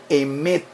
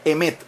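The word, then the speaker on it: אמת: Ahora, la palabra verdad en el idioma hebreo es el vocablo emet.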